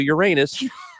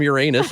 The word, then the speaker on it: Uranus: in the store and employ says welcome to Uranus and their slogan is the best fudge comes from Uranus and that is how it's pronounced I didn't know that unbelievable Uranus Missouri is two hours Southwest of of us